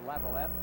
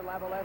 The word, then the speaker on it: Laviolette: We find out that his family has 2 pronunciations, and I guess he goes more with Laviolette than Laviolette.